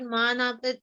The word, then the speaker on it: manapa: So when you say that word manapa, just stretch it out for a bit. So man upman, right? Even in Hindi. Yeah. Manapa. You just emphasize on the syllable a bit. That's all really.